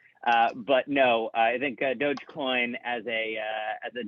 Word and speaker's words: Dogecoin: collateralized stable coins so i can't use doggy coins i believe it's pronounced dogecoin um and uh and and